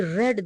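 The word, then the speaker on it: read: है गाइज यहां पे रीड रेड रेड स्पेलिंग एक ही जैसी होती है लेकिन थोड़ा सा प्रोनंसिएशन डिफरेंस होता है रीड रेड रेड आई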